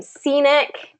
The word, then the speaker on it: scenic: Scenic is the same.